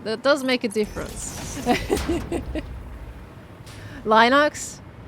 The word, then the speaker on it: Linux: does make a difference lonox I said Linux last time and everybody poked to me for it so I'm I'm just going to like I'm just going to say it now and you guys are just going to deal with it cuz I said L the other day and everyone was like what did you just pronounce it like that like it was the most cursed thing I've ever done and I was like